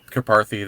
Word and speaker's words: Karpathy: Karpathy, there you go.